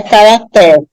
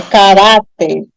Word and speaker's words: caráter: como eu pronuncio caráter a sílaba mais forte é a penúltima e não a última não é caracter é caráter aí eu tenho uma